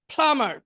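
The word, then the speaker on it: plumber: প্লামার পানির মিস্ত্রি, এখানে বিটা উচ্চারণ হবে না, প্লামার পানির মিস্ত্রি।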